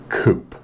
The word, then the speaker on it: Coupe: charge to convert it it's pronounced Coupe oh yeah what do you eat when you're sick soup oh yeah is there an Ian soup no but the word has French Origins just tell me the